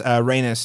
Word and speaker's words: Rhaenys: But also Princess Reyes, or what? How do you say her name? Are you talking about the queen that never was? The queen that never was. Yes, Rhaenys Targaryen.